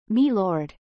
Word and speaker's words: my Lord: much that is tln when reading malord make sure to pronounce it as me Lord ha ah I'm sorry